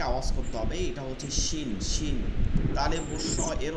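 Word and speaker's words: ش: এইরকম মুখ থেকে আওয়াজ করতে হবে এটা হচ্ছে শিন শিন তালে বস্য এর উচ্চারণ থেকে শিন শিন শিন শিন এটা অনেকের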